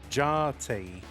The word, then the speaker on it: Jati: Jati, as Evesy told me it's pronounced.